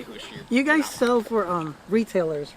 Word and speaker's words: Husch: But we say Husch, but if you say Husch, you guys sell for retailers, right?